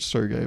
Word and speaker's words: Sergei: He said to pronounce it Sergey, but I was like, please, the American knows best.